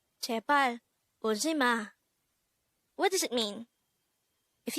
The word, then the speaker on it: 울지마: 울지마. This is pronounced as a three-syllable word. The first syllable is ul, second syllable is ji, the third syllable is ma.